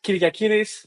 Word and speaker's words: Kyriakidis: So I'm Kyriakidis. This is how you will pronounce this.